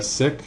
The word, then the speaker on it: cyc: a cycllorama or a sik. That's c y c uh short for cycllorama. Sik pronounced uh sounds like s i c k sik.